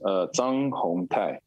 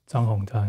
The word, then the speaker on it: Zhang Hungtai: Can you pronounce it? Yeah, of course. Zhang Hungtai. Zhang Hungtai.